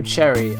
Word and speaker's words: Cerri: it absolutely insane okay so Alberto cherry that's how you say his name he's on loan from